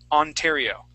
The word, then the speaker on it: Ontario: The word is Ontario. Okay. So that O at the beginning will make an ah sound. Ontario.